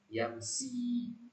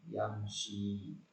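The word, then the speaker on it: يمشي: Maka kalau tadi misalkan ada yang baca yamsi, nah itu keliru. Ya, karena makhrajnya kurang tepat. Yang benar adalah yamshi.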